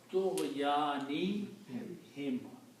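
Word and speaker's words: طغيانهم: And for the easy tajweed, we will pronounce this as him, not hum. So the word becomes Tughyani him.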